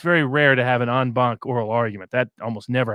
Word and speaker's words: en banc: But in the States, we call it en banc. We actually pronunciate the C.